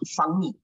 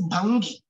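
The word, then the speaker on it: ഭംഗി: In Malayalam, usually we mispronounce words like bhangi. Or for people around Kottayam and all, sometimes we go fangi, isn't it? Because we are not quite conscious of even Malayalam pronunciation. So we say fangi. Alla fangi alla al. Fangi alla sambho. But it is bhangi. Ga is pronounced because it's a Sanskrit word.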